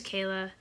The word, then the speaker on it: Knola: oh my name is Kayla and so you know kind of like NOLA like Louisiana but the K is silent and then like okay